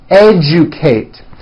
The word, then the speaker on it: educate: Algebra, legend, magic, subject, digest, rejoice, objective, majesty, educate. that has also an unusual pronunciation. Let me break it down for you.